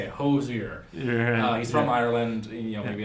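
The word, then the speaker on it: Hozier: It's apparently Hoizer. I looked up interviews of him, but it's like 3 syllables. So I'll try to say it, Hoizer.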